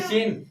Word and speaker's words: scene: उसके बाद SCENE, सीन, सीन में क्या होता है हमारा, दृश्य, क्या होता है, दृश्य।